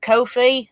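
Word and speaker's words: Ko-fi: phi i know it i know it's supposed to be coffee it's like that but on the twitter page it says it rhymes with no fee so that i'd make make it kofi so you know so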